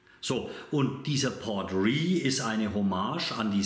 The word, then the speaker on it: Port Ruighe: Port Ruig, ich spreche ihn so aus, weil er so geschrieben wird. Es kann aber durchaus sein, dass er anders ausgesprochen wird. Laut Google, und das habe ich mir jetzt mal aus dem Internet gezogen, heißt der wohl, wenn man richtig aussprechen wollte, Port Ruig.